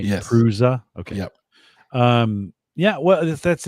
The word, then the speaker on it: Prusa: Prusa. That's how you pronounce it, right? Yes. Prusa.